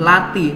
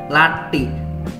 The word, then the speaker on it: Lathi: itu seperti itu Melati jadi ketika di huruf t itu lidah teman-teman ditekan ke langit-langit atas jadi latih hebat kayak apa namanya